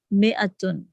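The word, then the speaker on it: مائة: Note that in mi'atun, the alif is not pronounced. It is pronounced mi'atun.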